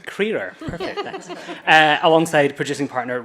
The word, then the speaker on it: Crerar: Ciara is one half of the filmmaking duo Barry Crerar, is my pronunciation? Crerar. Crerar, perfect, thanks.